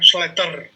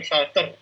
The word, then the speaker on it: Slater: bacanya Slater. Oh ya, Slater ya, bukan Salter.